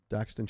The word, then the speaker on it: Daxton: Tell us a little bit, and your name is pronounced Daxton Schatz, right? Did I say that right? Yes, yeah. Schatz. Daxton Schatz.